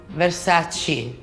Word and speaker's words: Versace: fantastic preferita in Italiano which Italian word do you wish English speakers would stop saying incorrectly Versace is Versace what makes Versace unique